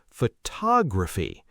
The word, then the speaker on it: photography: Take the word photograph, photograph, but when you say photography, it becomes photography. The stress shifts to the second syllable.